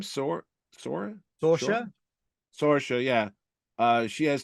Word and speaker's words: Sorsha: Sorsha.